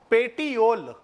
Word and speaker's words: petiole: Pronunciation बिल्कुल सही लीजिएगा, पेटियोल।